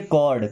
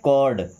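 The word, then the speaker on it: cord: और जैसे सी ओ आर डी इसे पढ़ेंगे कॉर्ड क्या पढ़ेंगे कॉर्ड एल ओ आर डी लॉर्ड क्या पढ़ेंगे लॉर्ड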